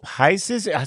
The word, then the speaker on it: Pisces: Pisces.